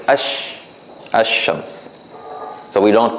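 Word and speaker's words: الشمس: So in this case, we don't say Al-Shams, we say Ash-Shams.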